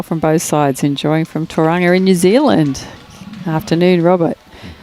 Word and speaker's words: Tauranga: Enjoying from Tauranga in New Zealand. Afternoon, Robert. Hopefully the weather's over there, Robert. It'd be a bit cool, I'd say, Tauranga. Shane, let's go up the hill. Tauranga? Sorry. Tauranga.